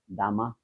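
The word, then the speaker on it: Damas: তো এই ফ্রেঞ্চ গায়ানার আরেক লেখক আছে, তার নাম হচ্ছে লিওন গন্ত্রান ডামা, ইংরেজি বললে আমরা তো ইংরেজি উচ্চারণে ভুল করি, ডামাস মনে হবে, DAMS।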